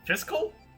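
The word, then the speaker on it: Fischl: how to pronounce fiscal fiscal like the fiscal year apparently but it's like sort of halfway between a shift and a co sound oh this is a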